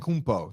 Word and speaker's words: Antetokounmpo: Antetokounmpo. That's exactly how you say it.